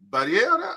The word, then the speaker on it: birria: Have you guys ever had birrias? Am I saying it right? Birria? How do you say it? Birria. Yes.